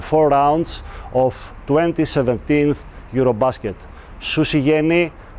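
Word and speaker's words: Susijengi: Susi jengi. Susi jengi. That is how the nickname of the Finnish national basketball team is pronounced correctly, as Rupahonen told me.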